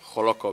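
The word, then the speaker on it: Hollókő: ¿Está bien pronunciado? ¿Joloco Village? Claro que sí, está Joloco.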